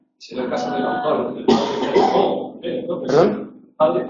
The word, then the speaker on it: Feijó: Es yato. Es yato, son sílabas diferentes. Sí, sí. Porque para que hubiera un diptongo tendría que haber alguna que fuese alto. No, aunque en realidad se pronuncia como una vocal larga, pero el esquema acentual sería así. Campo.